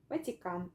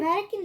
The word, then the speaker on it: Vatican: ran pretend all right you're almost ignoring the T it just sounds like an like you're probably thinking of Vatican like something it's it almost sounds like that Vatican Vatican Vatican Vatican Vatican